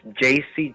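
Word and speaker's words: Yeis: y e i s i pronounce jc just the way you would pronounce a j and a c my name is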